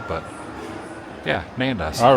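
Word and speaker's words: Nando's: something it's not necessarily is phonetically how it is spelled but yeah nandas all right got my leftovers with me have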